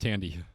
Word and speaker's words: Thandie: So Yes, but it's pronounced Thandie.